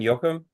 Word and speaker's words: Joachim: of the order St I'm going to say it I would in German Yokum um perfect okay because